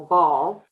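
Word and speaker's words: boule: um shape the actual ball um and they spell that b-o-u-l-e but I think it's pronounced ball and what I do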